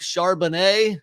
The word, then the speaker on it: Charbonnet: I'm going Zach Charbonnet. Is that how you pronounce it?